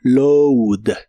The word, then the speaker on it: load: de inglés es load en lugar de a lleva un sonido u se pronuncia como load load en el presente lo